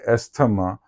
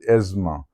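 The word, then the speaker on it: asthma: Then there's another word estama but the right pronunciation is asma.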